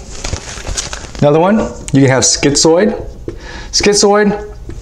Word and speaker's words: schizoid: Another one, you can have schizoid. Schizoid, easy way to remember schizoid is it rhymes with android.